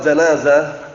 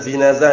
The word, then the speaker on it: janazah: Kemarin sudah kami jelaskan bahwasannya di dalam sholat janazah, bukan jinazah ya, ingat-ingat, janazah itu mayitnya, kalau jinazah itu kerandanya. Dibedakan dengan apa harokatnya.